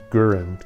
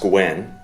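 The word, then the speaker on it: Gouin: And I think Chase Gurin. They said it's pronounced Gwyn. Chase Gwyn, okay.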